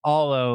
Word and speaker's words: Aalo: And let's start there because I know everyone I talked to pronounces it differently and you just clarified for me it's alolo like like all the things.